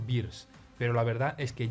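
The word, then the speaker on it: Beerus: El modo de pronunciarlo, la verdad, no me acaba de quedar muy claro, ya que hay demasiada confusión al respecto. Según parece, lo más correcto posible sería llamarlo Beers, pero la verdad es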